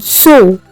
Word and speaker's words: Zoo: Z, which is pronounced like the S in the word bits. Here we have the example of the word zoo.